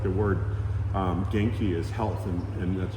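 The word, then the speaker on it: 元気: part of their culture like the word um genki is health and and that's g e ki there it's two Japanese characters geni genki yeah and so genkes is how are you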